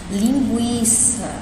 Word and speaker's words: linguiça: é de grampo aqui eu tenho a palavra linguiça né linguiça eu ponho no seu em um só eles eu pronunciei um então se eu pronunciei um significa